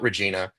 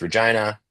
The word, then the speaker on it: Regina: It's not Regina, it's Regina. That's how they pronounce it.